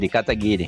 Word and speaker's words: Kataguiri: É Kataguiri que pronuncia? Kataguiri.